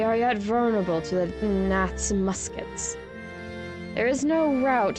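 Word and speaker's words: Gnath: with Nath yeah the Nath live there even though you don't pronounce the G so eh we'll be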